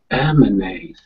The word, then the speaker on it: emanate: That second A is like a schwa. Emanate.